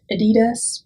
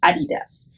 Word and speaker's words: adidas: and that brand is adidas for american speakers or english speakers you often will call it adidas and that's fine people will understand you obviously but in germany we say adidas adidas is the largest